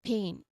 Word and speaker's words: pain: First is pain, which should be pronounced with a long A sound.